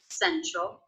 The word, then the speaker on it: central: or in Central Park Central stress swivel of Central is the first one sin sin the second syllable has the schwa troll troll troll essentially